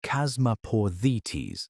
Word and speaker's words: Chasmaporthetes: One of them, Chasmaporthetes, pronounced Chasmaporthetes, actually crossed the Bering Land Bridge into North America.